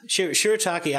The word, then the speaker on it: shirataki: Shirataki.